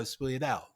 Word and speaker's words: sfogliatella: It's Sfogliatella. Yes, I'll never be able to say it. So it's because it's spelled so funnily, differently. It's SFOG. How do you pronounce that? LIATLLE. Yeah, so Sfogliatella.